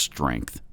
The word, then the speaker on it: strength: It's pronounced strength. Okay? Can we get over the strength thing from the East Coasters? It's strength. Not strength. Strength.